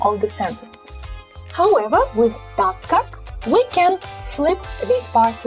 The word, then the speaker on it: ТАК КАК: In pronunciation, you will place more emphasis on ТАК here. So ТАК КАК. This word КАК is not really accented. So again, ТАК КАК. It sounds just like one word, basically.